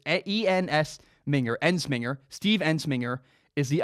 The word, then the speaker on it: Ensminger: to say his name is harder it's a ENS minger Ensminger Steve Ensminger is the offensive coordinator LSU